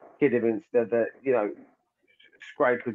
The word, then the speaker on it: Kidderminster: yeah, I mean, listen, for little old kiddie, that's said it wrong. For Kidderminster start picking up a draw